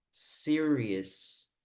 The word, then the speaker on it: serious: que hay al final, vamos a pronunciar como una E. Es decir, vamos a decir no serious, sino serious. Como si dijera series, como de las series de televisión.